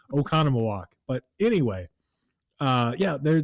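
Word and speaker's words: Oconomowoc: So, if if you saw it spelled, you probably would have no idea how to pronounce it, but now you do because you're listening to me telling you how to say it. And it is Okconam walk.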